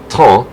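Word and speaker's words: thym: say in french which is spelled t-h-y-m but pronounced ta which also sounds like tuna which is t-h-o-n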